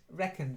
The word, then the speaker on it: reckoned: Reckoned. It's just stress. The pronunciation was fine, but it's reckoned. So the stress is slightly different.